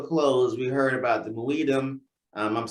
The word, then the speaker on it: Muidem: So as we wrap this up, as we bring it to a close, we heard about the Muidem.